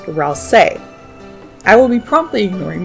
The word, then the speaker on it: Ralsei: Suzy made a typo of Ralsei's name in Chapter 2, which heavily suggests his name is supposed to be pronounced Ralsei.